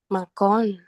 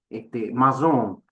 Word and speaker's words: maçon: Macón. Ah, bueno, no se pronuncia así. Ahí va, como dice Guerra, maçon, el gremio de los, bueno, perdonen mi francés, es Bueno, más la bien de pronunciación provincia.